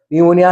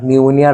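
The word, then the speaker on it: pneumonia: নিউমোনিয়া ঠিক আছে পন ইউ হ উচ্চারণটা পিটা silent N ইউ নিউ এম ও মোন আই এ আন্ডারলাইন করবো নিউমোনিয়া নিউমোনিয়া কি একটা ডিজিজের নেম একটা রোগের নাম ঠান্ডা কাশি থেকে এটা হয় খুব খতরনাক নিউমোনিয়া রোগে অনেকে মারাও যায় এক্সট্রিম সর্দি কাশি মানে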